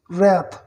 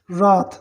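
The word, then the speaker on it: wrath: बट लेकिन it faced these consequences merely because of इट्स own anger and रैथ, ठीक है। इसमें W silent है, राथ, इसको पढ़ेंगे राथ, इसको पढ़ेंगे ओन, ठीक है।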